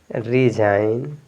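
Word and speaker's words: resign: बाद एन है तो यहां प जी आपका साइलेंट इसको पढ़ेंगे साइन एस आई जी एन साइन डिजाइन रिजाइन और ये क्या है नेट इसको नेट या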